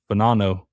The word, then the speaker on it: Fagnano: And I did watch, it's actually pronounced Fanano, but it is spelled Fagnano.